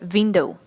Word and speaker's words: window: print word is that many people say window that's not window the sound ver is absolutely different in English than it is in Russian and Kazakh so make sure when you're pronouncing the word window it's it starts with the sound so you should say window window